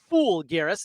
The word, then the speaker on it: Folgueiras: Fool Garris is how you pronounce his last name.